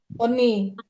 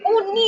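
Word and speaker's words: 언니: Kalau ada yang nulisnya gini masih ini salah ya bacanya jangan uni loh ya. Uni jangan Uni orang Padang bacanya oni. Jangan uni bacanya oni. Bacanya pakai huruf O ya.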